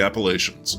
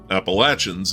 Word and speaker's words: Appalachians: They all run north along the western slopes of the Appalachians or Appalachins in the case of the New River, which rises down south in Ash County, North Carolina, where that's the predominant pronunciation.